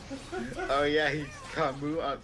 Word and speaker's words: Camus: and they thought, oh, it's like Samus, Camus. Oh wait, this is French. That S is silent. Oh yeah, he's Camus.